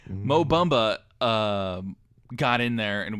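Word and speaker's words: Mo Bamba: because for God's sakes Mo bomba or Mo bomba as Mike so that's the correct way to pronounce his name Mo bumba um got in there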